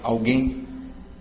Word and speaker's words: alguém: O mesmo com alguém. Alguém, não é alguém. A oxítona terminando em EM.